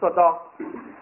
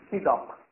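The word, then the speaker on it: صداق: Now this word Sadaq can be pronounced in two ways. You can read it Sadaq and you can also read it Sidaq.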